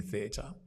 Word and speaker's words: theater: can I explain it so you've got the th you've got the the long vowel or the dip thong e e e the and then t t and the